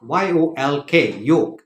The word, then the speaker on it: yolk: o l k yoke y-o-l-k yolk the L is solid please do not pronounce the L it is yolk okay